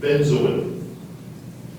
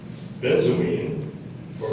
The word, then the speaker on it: benzoin: a c k n u c k spna benzin benzin would you please repeat the word benzin are there any alternate pronunciations there are Benz or benzo definition please it's a balsamic resin